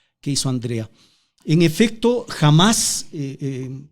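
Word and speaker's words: Hamás: hizo Andrea en efecto Jamás con acento en la en la en la segunda a es es un Movimiento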